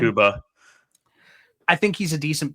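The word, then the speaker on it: Mukuba: Makuba.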